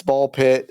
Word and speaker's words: BALL x PIT: Um I'm interested in playing a game called Ball Pit that came out this week. Uh it is a It's like Hunter Hunter where you don't pronounce the X.